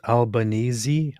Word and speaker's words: Albanese: It is pronounced Albanesei.